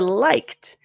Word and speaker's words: liked: Okay, so for liked, liked. So you got the liked. Notice when you're practicing it perfectly, it's going to sound more aspirated, liked.